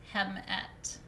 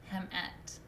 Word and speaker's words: hmt: so tai is male female is hmt it's pronounced hemet hemet and then the third